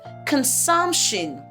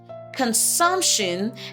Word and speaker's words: consumption: We have consumption. Consumption and not consumption.